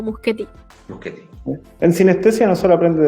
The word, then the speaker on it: Muschietti: Muschietti. Muschietti. Sí, porque originalmente dentro de lo que es el italiano, que creo sería, la CH se pronuncia como Q, entonces vendría sonando como Muschietti.